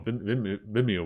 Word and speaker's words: Vimeo: So yeah, but E Plus, at least the Japanese E Plus, actually use Vimeo, or Vimeo was the pronunciation, Vimeo, for their streams, which pretty surprised me.